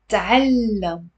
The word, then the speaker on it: تعلم: The next one is تعلم, تعلم. There is a t with a spoon, and then immediately followed with a fatha on the ain.